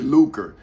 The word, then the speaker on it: lucre: Nah, but it's L-U-C-R-E. But they pronounce it L-U-K.